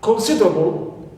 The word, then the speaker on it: considerable: So, neutral suffixes, here we have a list of them, which are able, like considerable. So here, able is neutral. Clear? Neutral. And we stress always, as usual, C in consider.